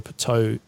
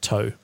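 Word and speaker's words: Ptoh: from their eggs ax I'm pretty sure puto is supposed to have a silent P so let's pretend that I just said toe anyway I think that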